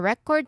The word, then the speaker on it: record: The stress sits on the first syllable because that's what um that's what we are naming a thing, an object, a noun.